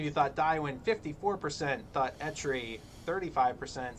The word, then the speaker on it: Etri: And I always did Ekri. Yeah, I would always say Ekri as well, but it's Etri.